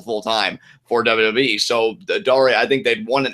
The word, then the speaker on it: Daria: She's very picky about how people pronounce her name. Daria was the MTV cartoon character. It's Daria. You know what?